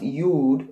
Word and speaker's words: Yud: It's pronounced Yud in Hebrew, and it means creator, creation.